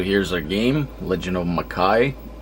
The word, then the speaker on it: Makai: a game legend of makai i'm pretty sure it's not pronounced mikaj let me see is the